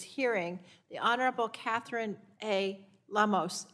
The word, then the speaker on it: Lemos: the honorable catherine a lamos am i pronouncing that correctly lemos okay thank you that's correct um uh chairperson and